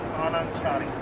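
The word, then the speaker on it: Anand Chari: How do I pronounce it? It's Anand? Anand Chani.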